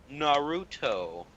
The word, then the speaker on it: Naruto: pronounce it? Naruto? Naruto. Naruto.